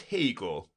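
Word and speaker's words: Haigha: happy his name is Hegel he pronounced it to rhyme with mayor I love my love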